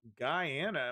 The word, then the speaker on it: Guyana: chunk of uh Ghana I think Ghana is how you say correctly chunk land from its neighbor Guyana in a dis that's been going on Guyana I knew I was saying that incorrectly um yeah so they're